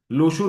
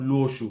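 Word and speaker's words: Luoshu: तो लुओ pronounce करने में दिक्कत था, तो यूरोपियंस लोग उनको लोशु लोशु करके प्रोनाउंस करना शुरू कर दिए, जिसके कारण उसके बाद से ये नाम लोशु पड़ गया इंस्टेड ऑफ लुओशु करके।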